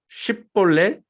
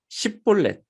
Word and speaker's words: 쉽볼렛: 그리고 그 싸움에서 승리한 이 입다는 이 요단강에 서서 이 요단강을 건너는 이 에브라임 사람들을 잡고 발음을 시킵니다. 쉽볼렛, 십볼렛.